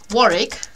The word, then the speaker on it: Warwick: Minster and then there's um wari if you pronounce it properly would be Warwick um siren sester oh